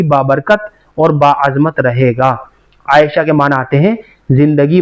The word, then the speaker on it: عائشہ: اگلا نام ہے عائشہ۔ عائشہ جو ہے عین کے تلفظ کے ساتھ، بڑا پیارا نام ہے،